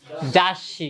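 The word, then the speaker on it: ざっし: এর পরের অক্ষরটা দুইার এটা উচ্চারণ হবে না এটার পরিবর্তে কি হবে পরের অক্ষরটা ডাবল হবে তাহলে এটা কি হচ্ছে জাসি কি হচ্ছে জাসি মানে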